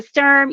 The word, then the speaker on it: Sturm: my name is Lisa Sturm yes term rhymes with germ it's totally awesome that